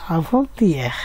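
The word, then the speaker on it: avant-hier: পরশু দিনকে ফরাসিতে কিভাবে বলে, এটা ইয়া আর তার সাথে একটা আভো যোগ করতে হয়, একসাথে মিলে হয় আভন্তিয়েহ, উচ্চারণটা হলো আভন্তিয়েহ, আভন্তিয়েহ, একসাথে মিলিয়ে পড়তে হবে কিন্তু।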